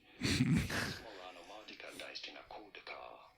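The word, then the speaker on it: Asmoranomardicadaistinaculdacar: And you do want to insist on that cool syllable here, okay? Because this is a cool name. Asmorano Mardika Daistina Kuldakar, okay?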